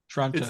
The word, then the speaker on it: Toronto: It starts with a ch. There's no T's in it. There is a T in Toronto. No, not phonetically. There's not. Oh. Oh, I got you. Toronto. Toronto. As if you're starting to say churro and then you just say Toronto.